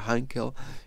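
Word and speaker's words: Heinkel: ot otros modelos aquí est hankel que en realidad se pronuncia hankel h12 Y tenemos sus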